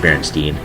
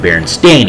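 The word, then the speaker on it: Berenstain: it was Baron uh he pronounced Baron Stein and the teacher corrected him Baron stain he just like like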